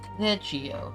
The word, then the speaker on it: Thegio: It's custom, Now, the forename is gonna be Thegio. That's how it's gonna be pronounced. Thegio. It's basically the Geo, but yeah.